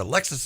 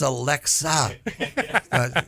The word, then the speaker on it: Alexa: I said, Alexis is going to read my book. And they said, who? I said, no, Alexis. They go, Dad, it's Alexa.